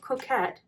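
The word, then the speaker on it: Cocquette: It's called Coquette, but it's spelled C-O-C-Q-U-E-T-T-E.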